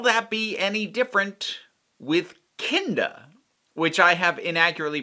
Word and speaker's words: Kinda: to well will that be any different with kinder which i have inaccurately pronounced as kinda uh on camera previously in my defense like